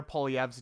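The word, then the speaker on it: Poilievre: the conservatives pier and you said Pierre pov's name wrong it's POV not whatever you said it's it's French yeah it's uh it's French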